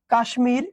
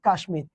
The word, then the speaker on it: কাশ্মীর: শব্দই হচ্ছে তৎসম শব্দ আর তৎসম শব্দের ম ফলার উচ্চারণ বজায় থাকে বুঝতে পারছেন এ কিন্তু